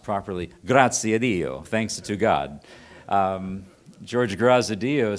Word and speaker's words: Graziadio: And in a lunch meeting one day, George Graziadio, pronounced properly, Graziadio, thanks to God, George Graziadio said to me, "Andy, I live in a state of perpetual dissatisfaction."